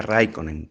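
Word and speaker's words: Räikkönen: de fórmula uno raikkonen se produce a raikkonen porque todas las palabras tienen el énfasis el acento en finlandés en la primera vocal el finlandés además es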